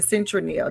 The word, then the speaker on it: Citronelle: It's in Citronelle. Did I pronounce it right, Apostle?